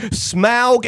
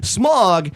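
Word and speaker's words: Smaug: Smog is a British thing, by the way. Smog is American.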